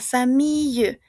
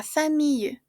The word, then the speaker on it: famille: La famille. Y como tenemos una e que no tiene tilde, on ne prononce pas, ¿d'accord? No se pronuncia. La famille.